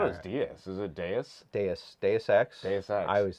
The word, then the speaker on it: Deus Ex: De- That's my bad. Deus Ex. Yeah, I thought it was Dos Ex the whole time. Like the beer.